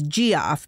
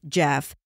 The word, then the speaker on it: Geoff: Last week, I referred to one of the suspects as Geoff because his name was spelled G-E-O-F-F. But guess what? Silly me, it's actually pronounced Jeff.